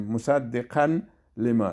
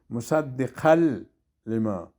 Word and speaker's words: مصدقا لما: ایتو گفتن میتونیم مصدقا لما، این غلط میشه، مصدقل لما، میم زر ما، عین